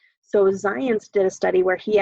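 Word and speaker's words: Zajonc: onc and that's actually pronounced science like it rhymes with science so science did a study where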